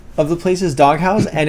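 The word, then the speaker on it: Dog Haus: It's called the Dog House. It's spelled dog, H-A-U-S.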